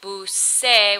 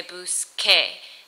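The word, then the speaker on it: busqué: They change to keep that correct pronunciation. Instead of saying busé, we want to say busque. Instead of saying yehe, we want to say yege. And instead of saying comenzar, we want to say comencé, we want to say comencé.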